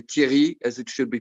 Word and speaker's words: Thierry: English people to say Thierry as it should be pronounced, like the famous football player Thierry Henry. And so people in England, my friends, my mates, used to say either Terry or Cherry or things like that, and it's not obvious.